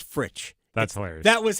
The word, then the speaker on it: Fritsch: For 5 years, I've been calling him Brad Frisch. It's Fritsch. Frisch. To me, he pronounces it Fritsch.